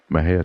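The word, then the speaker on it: Mexia: theater 923 East Main Maha Texas Maha is spelled m XI a the zip 7666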